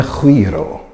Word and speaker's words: guiro: Listen to the guiro. That's right, even if it's spelled with a G, it's pronounced like you're trying to do a loogie.